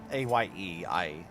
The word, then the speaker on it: Aye: A-Y-E. I'm assuming. I. Challenge Pinterest. A. Yep, I'll fight her. A-Y-E I generally pronounce as A.